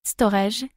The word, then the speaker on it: Storj: Storge que l'on prononce Storage est une plateforme open source de stockage cloud.